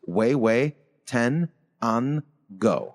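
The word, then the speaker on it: Huehuetenango: quick with an angle and then pronounced way way 10 unn go I like that from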